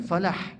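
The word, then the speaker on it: فلاح: Kemudian hayya 'alal falah. Nah, itu falah itu lahnya itu juga tipis itu. Falah, hak tipis, bukan kadang-kadang muazin mungkin terlalu capek jadi hayya 'alal falah.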